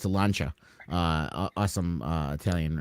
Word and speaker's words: Lancia: Not many people know it's a Lancia. Awesome Italian. It's called a boat. It's a Lancia.